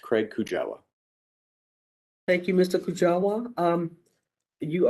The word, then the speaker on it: Craig Kujawa: My name is spelled C-R-A-I-G. Last name is K-U-J-A-W-A, and it is pronounced Craig Kujawa.